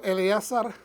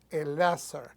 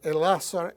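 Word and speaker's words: Elazar: sus dos hijos restantes aquí puse yo Eleazar y fue una equivocación mía ahí debió hacer el láser porque de esa manera es como lo pronuncian el láser e Ismael y perdón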